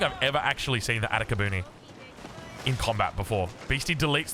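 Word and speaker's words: Atakebune: We've got Atakabune, I think is the correct pronunciation here.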